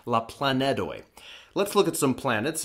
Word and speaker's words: la planedoj: Oh a small plan so we have to use D instead of teen make sure to pronounce that clearly la plan Ned away let's look at some